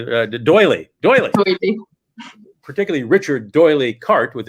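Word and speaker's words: D'Oyly: No, how do I pronounce his name? You told me Doyley.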